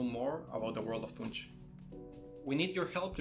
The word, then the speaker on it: Tunche: So Tunche is that the standalone demo shows the gameplay extremely well.